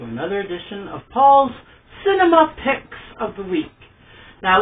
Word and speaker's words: Pix: Some people say Cinema Picks, P-I-C-K-S. No. Ours is pronounced P-I-X. It's something I came up with, like picks, like movie picks, or Netflix, or something like that.